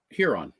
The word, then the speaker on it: Huron: Huron, yes.